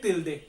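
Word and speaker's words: tilde: एक निशान लगाया है मैंने, इसको बोलते हैं तिल्दे।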